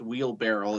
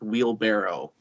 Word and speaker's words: wheelbarrow: when I found out it's not pronounced wheel barrel it's pronounced wheelbarrow Barrow it's people say